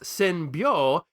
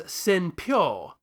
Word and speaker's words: Senbyou: resulting in him calling what should have been pronounced senbo as Seno quite frankly I can't